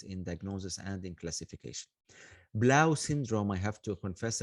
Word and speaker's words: Blau: Am I pronouncing the name correctly? Is it Blau or is it something else? Yeah, Blau.